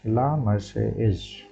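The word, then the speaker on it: La Marseillaise: एंड इसका pronunciation देखते हैं। क्या बताता है? प्रोनशिएशन ला मसेज ला मारसेज ला मारसे एज ला मारसेज ला मारसेज ये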